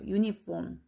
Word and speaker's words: uniform: 얘가 uniform이라고 읽어요. uniform. 유긴 한데 아, 에, 이, 오, 우 할 때 얘가 우나 어 소리가 아니라 uniform이라고 읽는단 말이에요.